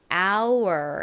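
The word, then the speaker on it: hour: 어쨌든 다시이 유로 돌아와서요 유의 가장 대표적인 소리 소리이고 리 가진 소리가 더해지니까 our our 이렇게처럼 발음이 됩니다 한국식으로는이 단어를 를 보통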